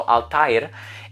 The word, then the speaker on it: Althair: is a Diaries and it has the umlaut on it which is the two dots kind of like the word naive so the I has to be pronounced independently so Altair and of course it